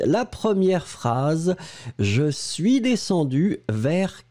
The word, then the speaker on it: descendu: On ne le prononce pas. Descendu, U ou UE, ce sera phonétiquement la même chose.